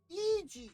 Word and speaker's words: E.G.: E.G., that's how you say it.